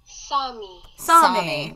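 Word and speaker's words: Sámi: Sami. Like salami.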